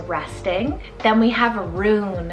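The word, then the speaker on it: rune: who is a resting then we have a roon it's called r-u-n-e roon and this one's kind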